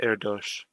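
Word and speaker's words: Erdős: Just because I know this name is pronounced Erdos.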